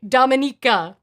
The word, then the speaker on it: Dominika: It should sound like Dominique, but with an added at the end. Okay, Dominika.